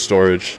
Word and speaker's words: Storj: ventures for a while that is storage or it's pronounced storage it's an open source